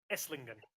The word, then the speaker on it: Esslingen: Is it Esslingen? Is that how you pronounce it? Esslingen. Yeah, perfect. Esslingen.